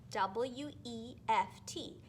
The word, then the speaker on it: weft: My little strips of paper are called my weft, W-E-F-T. It kind of sounds like the word left, but it's weft.